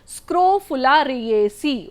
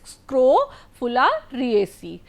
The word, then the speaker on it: Scrophulariaceae: Okay, I will pronounce it again, Scrophulariaceae. Okay, it is Scrophulariaceae.